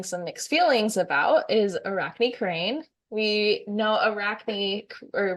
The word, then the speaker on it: Arachne: pretty sure it's Arachne, but not 100% sure.